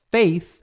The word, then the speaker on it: faith: Faith é fé. Faith é aquele A do inglês. Faith, feio TH.